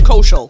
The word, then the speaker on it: Koshiol: But yeah, we got author, security extraordinaire, we got street team genius, Koshiol? Is that how you say it? Koshiol.